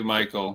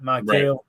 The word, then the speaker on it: Mykel: Basically Mykel. Here's the guy. Just say it like you've been drinking, right? Mykel.